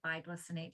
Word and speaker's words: bisglycinate: Bisglycinate, biglycinate, depends on tomato. It's spelled BIS.